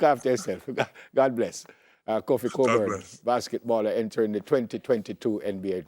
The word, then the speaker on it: Cockburn: It's pronounced Cockburn, you know, but a lot of people say Cockburn, you know, just off ignorance. Oh, it's pronounced Cockburn.